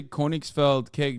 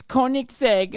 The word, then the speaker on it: Koenigsegg: course newer and they're exploded why'd you say koenigs felt cake w am I saying it wrong is that